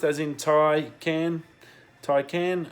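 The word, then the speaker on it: Taycan: against Tesla the Porsche Taikan that's apparently how it's pronounced as in toy can ty can not taken as it's spelt I wanna knows perception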